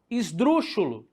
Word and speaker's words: esdrúxulo: A palavra esdrúxulo, certo? Esdrúxulo, esdrúxula. Se eu pego a palavra esdrúxulo, olha lá, professor, esdrúxulo, adivinha? Tem que ter uma situação. Por quê? Porque a sílaba tônica está onde? Na proparoxítona.